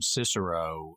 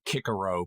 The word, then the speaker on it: Cicero: I like that they pronounced her name Cicero, the classic English pronunciation of that Latin name, instead of forcing on it the Germanesque modern Cicero pronunciation.